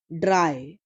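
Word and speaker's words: drei: is why why why d-r-e eye is 3 and it's pronunciation is dry dry dry English Willard Drive V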